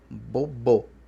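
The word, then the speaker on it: gbogbo: Tá escrito Gibô, Gibô, mas pronuncia-se bobô, com B estourado.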